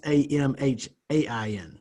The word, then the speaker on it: Samhain: And if you're looking it up, gang, it's not Samhain spelled like it sounds. It's Samhain.